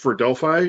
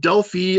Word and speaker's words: Delphi: Delphi, which actually I've been talking to some MVPs about getting some updates on here.